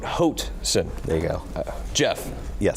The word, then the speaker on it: Hoatson: It rhymes with boat. Hoatson.